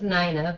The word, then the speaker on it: Nina: Um, and Nina, you want to tell us a little bit about yourself? Sure, mine. I actually pronounce it Nina, but I answer Sorry to about either.